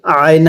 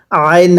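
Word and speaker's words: عين: কাফলাম জবর কাল, আইন হাজের ইহ। আইনটা উচ্চারণের সময় গলার মধ্যে একটু চাপ দিয়ে পড়তে হবে।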